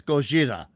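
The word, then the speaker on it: Gojira: so all right oh don't say Godzilla it's goira Gozilla goira goira there you got it perfect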